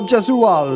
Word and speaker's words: Gesualdo: I think it's a soft G. Carlo Gesualdo.